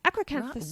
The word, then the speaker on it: Acrocanthosaurus: A theropod, Acrocanthosaurus. Acrocanthosaurus. Well done, Michelle. Thank you. I had to spell that out syllable by syllable.